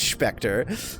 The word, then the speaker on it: Spector: Shouldn't it be pronounced Spector? Oh yeah, Spec Lad. He is von Wiener Schnitzel. He's German, so it is Spectre.